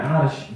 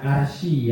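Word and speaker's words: عرش: Bacanya arsy bukan arsyi ya. Arsy ain ro syin arsy.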